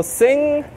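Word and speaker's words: Singha: So Sing, you know, they call it Sing out here, but it's spelled Sing Ha.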